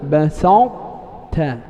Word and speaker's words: بسطت: والمثال المذكور بسطت، بسطت، إذا تبدأ بطاء وتختم بتاء.